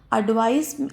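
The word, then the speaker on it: advice: मतलब एडवाइस में लास्ट में स का साउंड आ रहा है और एडवाइस में ज का साउंड आ रहा है।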